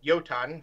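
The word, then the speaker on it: Jotunn: You had Jotun, or Jotun, properly pronounced, who is much more, who I think was very, very underrated.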